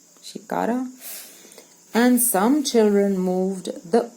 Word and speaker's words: shikara: we sat in a shikkada shikara and some children moved the oars now catch my pronunciation mistake i want to say shikkara shikara um and what is that